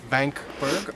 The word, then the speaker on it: Wank: We are on Vankberg or Wank Mountain. Also, if you're pronouncing it in English, it would be more of a Wank Mountain.